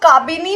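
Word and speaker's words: Kabini: Then we have, इसको आप काबिनी बोल सकते हो, कबानी बोल सकते हो, बहुत ही डिफरेंट प्रोनाउंसिएशंस है, अलग अलग है, बट you have to remember it. I usually call it काबानी.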